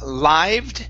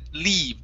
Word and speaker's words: lived: no no no here you had said leave using a long e sound instead of leave it's lived lived lived okay very good and your last one is the word gather uh which is right here instead of gether it's there you go